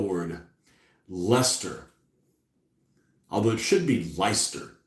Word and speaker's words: Leicester: Oh, there's that word, that L word, Leicester. Although it should be Leicester, the way it's spelled, but Leicester Micro Models did 1/4800 back in the day.